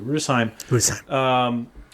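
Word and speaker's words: Rüdesheim: Rudesheim.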